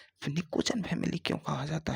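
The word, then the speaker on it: pnictogen: पी एन आई P silent है। को जन निकोजन फैमिली क्यों कहा जाता है?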